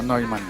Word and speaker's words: Neumann: Neumann con doble N al final, pero se pronuncia Neumann.